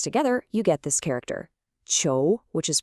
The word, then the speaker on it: 囚: So, when you put those two parts together, you get this character, chou, which is pronounced ch'ou, and its meaning is exactly what it looks like, prison, or the act of imprisoning someone.